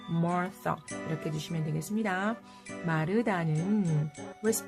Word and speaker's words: Martha: Martha. th 발음은요. 번데기 사운드를 해주시고요. Martha 이렇게 해주시면 되겠습니다.